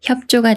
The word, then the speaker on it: 협조: 다음에 조라는 말이 와서 협조가 되는데요 이렇게 비읍 받침이 초성 지을 만나면 쌍지 소리 찌로 바뀌면서 조라고 읽어요 협조 협 조 예문